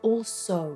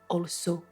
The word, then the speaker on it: also: And there was another one, I think it must have been also, that O sound goes from O. I heard something like also.